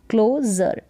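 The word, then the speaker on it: closure: तो क्लो हो गया क्या हो गया क्लो क्लोजर एक एक्स को एक्स एक्स फिर पीओ पो और जर एक्सपोजर जैसे इस स्पेलिंग को ब्रेक किया e एक्स को हमने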